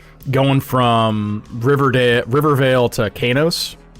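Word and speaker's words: Qeynos: Like going from Riverdale, Riverale to Kanos. I think that's how you pronounce that. Kanos or Kuno. I'm pretty sure that's K. Like a hard hard Q.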